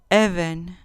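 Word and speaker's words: אבן: masculino bedelio 68 event even con acento en la penúltima sílaba even sustantivo femenino piedra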